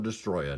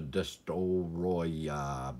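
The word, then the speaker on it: Destoroyah: And I'm going to call him a Destroya, not a Destoroya, because I don't want to sound like a five-year-old phonetically trying to pronounce Destroya.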